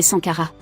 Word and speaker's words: Sankara: La prononciation moderne est sankara.